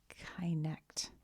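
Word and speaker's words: kynect: Kentucky is connect. Connect. Connect. That's spelled K Y N E C T, right?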